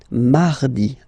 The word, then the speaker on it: mardi: So you can hear that you don't pronounce it that strongly, this R. Huh? Mardi, mardi, okay?